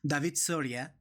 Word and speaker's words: David Soria: So, my name is David Soria, and my native language is pronounced David Soria.